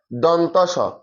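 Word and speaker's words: দন্ত্য স: মূর্ধন্য স মূর্ধন্য স অনেকে উচ্চারণ করে কি দন্তীয় স দন্তিয়াস স এটা সঠিক উচ্চারণ হচ্ছে যে দন্তস দন্ত স ড বিন্দু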